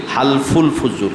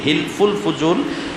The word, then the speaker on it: হিলফুল ফুজুল: হালফুল ফুজুল। হিলফুল ফুজুল এটা মানে সঠিক উচ্চারণ না, মূলত হালফুল ফুজুল।